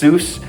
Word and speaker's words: Seuss: but then in American it's it's pronounced Seuss.